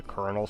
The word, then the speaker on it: colonel: Well, can you expect a kid to know the difference between kernel like from corn and the kernel spelled like colonial? I don't know. The way it doesn't sound the way it looks.